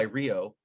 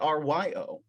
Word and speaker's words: Rio: i spell it r-i-o i used to spell it r-y-o um and people pronounce it ryo and uh so i